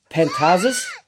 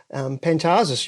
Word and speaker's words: Pantazis: sort of stuff, and Pantazis, yeah, that's the Greek pronunciation, the Australian pronunciation. It's actually in Greek you would say Pantazis, So so the accent changes, the emphasis totally. On the emphasis, the emphasis on the different syllable, right?